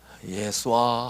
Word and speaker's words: 예수아: 예수아 하고 불렀으니까. 그 그게 예수입니다. 아, 예수한데 헬라식으로 발음을 하니까 예수가 됐습니다.